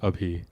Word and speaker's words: Abhi: actual like so the the way to say it with like the proper Hindi pronunciation it's ABI okay and my full